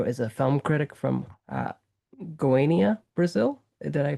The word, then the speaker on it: Goiânia: Pedro is a film critic from Goiânia, Brazil. Did I pronounce that right?